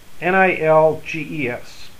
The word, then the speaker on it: Nilges: My last name is Nilges, N-I-L-G-E-S. It's pronounced Nilges in Germany.